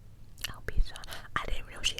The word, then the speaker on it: alopecia: I think you pronounce it Alopecia. Alopecia.